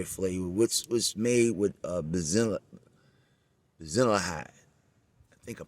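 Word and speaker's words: Benzaldehyde: almond and cherry flavor, which was made with basilihide. I think I'm pronouncing that right. Let me pronounce it for you, just in case I'm turning up the word. Benzaldehyd. That's Benzaldehyd.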